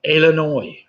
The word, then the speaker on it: Illinois: Number 4, the 2 US states that have a name ending with a silent letter. I'll give you half for each. It's Arkansas and Illinois.